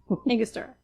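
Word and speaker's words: Angostura: So, this is a frozen blend of makaker mark, maple syrup, butterscotch syrup, and I never pronounce that right. Bitters. Anguster.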